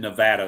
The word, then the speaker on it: Nevada: Yes, I said Nevada. That's how it's pronounced.